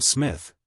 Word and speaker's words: Psmith: are you I am Smith said the old eonian reverently there is a preliminary P before the name this however is silent like the tomb compare such words as